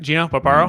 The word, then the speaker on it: Gino Barbaro: I'm going to make sure I pronounce that right? Gino Barbaro?